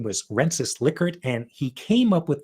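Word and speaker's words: Rensis Likert: to say and you now know the proper pronunciation of the guy's name. His name was Renis Lickard.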